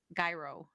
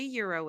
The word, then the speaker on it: gyro: say Nashville I'm thinking they're all gonna say gyro because I'm thinking I think I used to pronounce it as gyro too I would be like can I have gyro sandwich but it is Euro I just asked I just asked I said